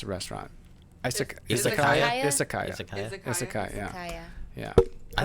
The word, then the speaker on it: Izakaya: So how do you pronounce the restaurant? Izakaya? Izakaya.